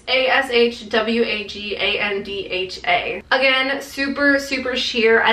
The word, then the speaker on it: ashwagandha: I don't know how you pronounce that. It's ashwagandha.